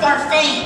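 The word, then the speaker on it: Barfée: It's pronounced Barfey.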